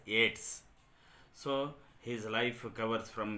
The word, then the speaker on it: Yeats: You have to pronounce that Yeats as Yeats.